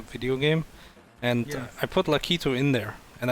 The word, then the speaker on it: Lakitu: game and i put lakitu in there and i called him lucky toe with an o at the end and everyone told me no it's like he too was i why why